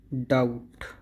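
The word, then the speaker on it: doubt: डाउट डाउट वैसे तो ये सबको पता ही होता है। डाउट जिसमें बी साइलेंट होता है, फिर भी बता देता हूँ, इसमें बी साइलेंट होता है।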